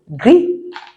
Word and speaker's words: gris: I told you already that I sounds E, and then the last sounds we don't pronounce it. So, gris.